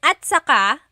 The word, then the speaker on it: at saka: Okay, and then at saka, technically it's spelled at saka, but when it's pronounced, remember the TS combination, it makes that ch sound.